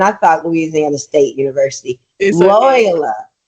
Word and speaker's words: Loyola: So So my next question is how did attending LSU because Loya you know I keep saying LSU and I thought Louisiana State University Loyola it's loyola.